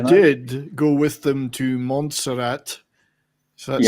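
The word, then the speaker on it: Montserrat: anywhere but you did go with them to monserat so that's how you pronounce it I could never know it's F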